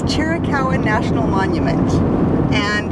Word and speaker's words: Chiricahua: saying it out loud just based on how it's spelled it's chirikawan national monument and it's in the chiricala mountains